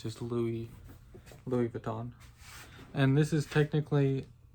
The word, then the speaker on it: Louis Vuitton: Today I'm going to be re unboxing and reviewing Ombre Nomad by Louisis Vuitton or Louis Vuitton. I know you're not supposed to pronounce the IA. It's just Louis Louis Vuitton.